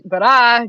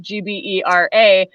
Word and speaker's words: Gbera: in Ghana, which is Gbera, Gbera. And number one, it's hard to pronounce. Number two, it kind of sounds like bra.